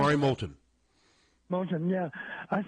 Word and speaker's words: Moulton: Is that how it's pronounced? Kamari Moulton. Moulton, yeah.